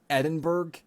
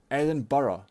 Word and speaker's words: Edinburgh: Any American where I'm from, they go, oh yeah, Edinburgh? No, Edinburgh. It's quite simple. Just read the word. That's all you have to do, the bare minimum.